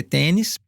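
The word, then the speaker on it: Tönnis: Tonis se escreve, mas se lê tênis.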